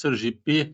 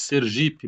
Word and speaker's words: Sergipe: Ao contrário do super, o P está no grupo das posposições átonas, ou seja, esse P ele nunca leva acento tônico. Não pronunciamos Sergipe, Maragogipe, mas Sergipe, Maragogipe.